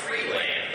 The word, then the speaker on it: Freeland: As we pronounce it back home, Freeland, all right? It's Freeland.